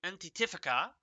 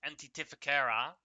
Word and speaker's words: Antitificera: The device is the Antitifica, or I'm always pronouncing this wrong, but Antitificera, I think, is the correct pronunciation.